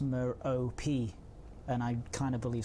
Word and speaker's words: Merope: Scott Manley says that it's pronounced Merope, and I kind of believe Scott Manley, I'm going to have to say, unfortunately.